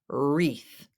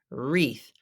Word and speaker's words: wreath: and ribbons is pronounced wreath wreath the W is silent and the E and the a together make the long e and the th is unvoiced wreath wreath do you hang a